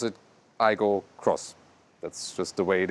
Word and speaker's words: Aygo X: Aygo Cross styling, and you indeed say Aygo Cross, although it says Aygo X, and the Corolla Cross says really Corolla Cross. Yeah, they still pronounce it Aygo Cross.